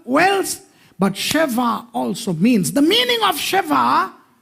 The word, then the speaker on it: sheva: Sheva. Sheva.